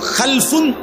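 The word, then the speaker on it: خَلْفٌ: হয় আরবিতে একটা হল খালফুন আরেকটা হল খালাফুন একই শব্দ শুধু উচ্চারণের মধ্যে একটু ভিন্নতা মাঝখানে একটা লাম আছে এই লামটার মধ্যে যদি সাকিন হয় তাইলে হল খালফুন আর যদি লামের মধ্যে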